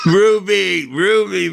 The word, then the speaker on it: Hruby: So, Hruby, the H is silent. It's the easiest way to do it. Hruby, baby.